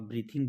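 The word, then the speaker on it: breadth: आप लोग श्वास लेते हो ना, ब्रीदिंग करते हो आप, ब्रीथिंग जिसको अपने बोलेंगे। और एक ही होता है ब्रेथ। तो ब्रेथ इसमें डी जो है वो साइलेंट होता है।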